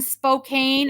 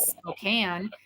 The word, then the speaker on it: Spokane: and they go and your address is in Spokane I said no it is Spokane and you do well to to pronounce that correctly and we feel the